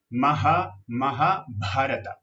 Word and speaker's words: Mahabharata: Esta H solita la pronunciamos J. Mahabharata.